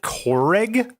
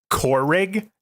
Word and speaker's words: Keurig: K cup a crig he pronounces it Coreg core rig there's an r in that word Philip Keurig come on